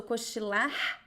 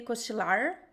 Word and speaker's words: cochilar: comment in cochilar, and the last R pronunciation varies a little bit depending on the place. Sometimes it sounds like we are not pronouncing the R, but most of the time we are. So Koshila, it's like a very subtle aspirated sound. Koshila. Could also be koshilar, depending on the region, or koshilar.